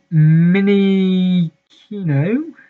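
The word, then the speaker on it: Minccino: Then you have Mini Kino.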